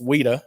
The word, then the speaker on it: WITA: It's pronounced WITA. That's what they call it.